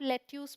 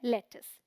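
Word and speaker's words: lettuce: हूं ध्यान रखिए क्योंकि स्पेलिंग के अकॉर्डिंग जाएंगे तो इसे आप लेट्यूस पढ़ लेंगे बट यह है लेटस ठीक है ये है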